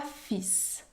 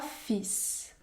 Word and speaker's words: fils: fois un meunier qui avait qui avait trois fils trois fils dans le mot fils je ne prononce pas la consonne elle par contre je